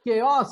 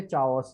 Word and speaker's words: chaos: अब केओस आपको पता है, बट उसको लिखते क्या है? मैं लिख देता हूँ CA। शैतानी दिमाग में नए नए आइडियाज आते रहते हैं, right everyone? This is केओस, इज it okay? पर लिखते इसे चाओस है, ठीक है ना?